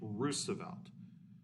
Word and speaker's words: Roosevelt: That's actually how you say his name, Roosevelt.